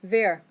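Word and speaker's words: wer: say who there good a lot of people confuse that with the word for where because it sounds so similar okay so everybody veer what about how that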